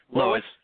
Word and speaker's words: Lowisz: It's got This guy, how do you say your last name again? Lowis. Okay. L O W I'm going to spell it for everybody. L O W I S Z.